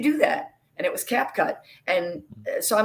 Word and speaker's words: CapCut: never heard of cat cap cut before you i even said it wrong last week yeah i call it cape cut which i even said it wrong yeah but now i'm saying cap cut yeah exactly but i